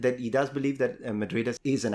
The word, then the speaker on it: Madrid: Lo de Madrid, sí, no, la D no la pronuncia, Oh, ¿no? you don't pronounce the D at the end.